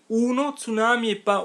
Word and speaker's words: tsunami: C uno tsunami atttion tsunami tsunami bon vous voz tsunami commence par un mais on le prononce comme un Z et pour cette pour